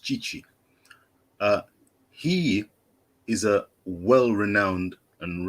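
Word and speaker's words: Tite: but what they've done under chichi t-i-t-e but pronounced chichi he is a well-renowned and reputable coach he's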